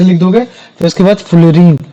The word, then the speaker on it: fullerene: फिर उसके बाद फुलरीन जैसे कुछ लोग फ्यूलरेंस भी बोल देते हैं। लेकिन फुलरीन भी बोल दोगे तो भी कोई दिक्कत नहीं है। बक मिनिस्टर फ्यूलरीन। तो ये जो बक मिनिस्टर फ्लोरीन है ये भी केवल